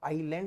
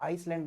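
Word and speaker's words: island: तो आइलैंड ही बोलते हैं इसको। है ना? आइसलैंड नहीं बोलते।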